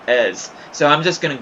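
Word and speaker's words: Eberechi Eze: And I actually did do research, and from what I could see, I've seen a bunch of people pronounce it Ease, but I guess it's actually supposed to be pronounced Ez.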